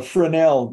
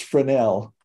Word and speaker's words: Fresnel: to be using a Fresnel lens? A Fresnel. You don't pronounce the S. It's a French word. So you get to pass over several word letters. So it's Fresnel.